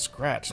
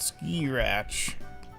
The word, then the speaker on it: scratch: Also, it's pronounced scratch, not ski-ratch.